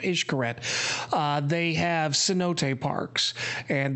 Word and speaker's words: Xcaret: issue correct parks which looks to our eyes as saying Xcaret but it's pronounced ish curette they have cenote parks